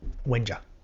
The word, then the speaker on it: Wengier: So I basically say, I say Wenja, and I just stop because I'm lazy.